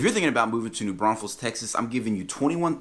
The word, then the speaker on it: New Braunfels: to saying it, but you're going to get the side eye real quick from the locals around here if you start throwing another S in there.